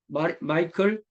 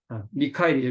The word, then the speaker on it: 미카엘: 당시 콘스탄티노폴리스 대감독은 마이클 어, 세를라리우스, 미카엘이죠. 미카엘. 마이클이라고 하면 안 되고, 이런 게 참 어려워요. 네. 마이클은 영어식 발음이니까 미카엘이라고 하는 게 맞겠죠.